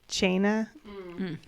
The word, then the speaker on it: Teine: I mean, how to pronounce it in actual Gaelic, and it's like Chaina. But They absolutely say tiny.